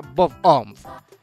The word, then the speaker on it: Bob-omb: El objeto bomba del juego en el que juegan Finn y Jake se pronuncia Bomboo, probablemente una referencia a la forma que se pronuncia Bob-omb.